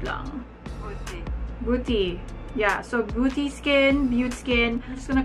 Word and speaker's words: BeautéSkin: BeautéSkin? I think this is French. Beauty. I used the translator and it says here it's French. And this is how they pronounce this.